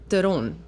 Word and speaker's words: Theron: I mean, look, the bottom line is the real pronunciation of my name is so far off from both of those. What is it? It's Theron. Oh. Yeah. The South African pronunciation.